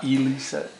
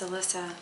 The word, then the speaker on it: Elyssa: It's not Elyssa. No, it's Elyssa. Elyssa. Like Melissa without an M.